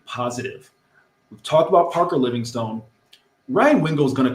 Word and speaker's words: Livingston: I thought the pronunciation guy said Livingstone. No, it says Stun, S-T-O-N, no E. Well, the spring guy get it right.